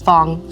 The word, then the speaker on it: Fong: end of the sentence Fong Fong who you spell it f o n g okay like song He's like I need